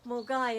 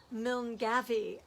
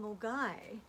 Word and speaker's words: Milngavie: And it's a bit like Mulgai in Glasgow, where my Uncle Alistair and Angela live. It's spelt Milngavie, so it's Milngavie for those who don't know, but Mulgai for those who do.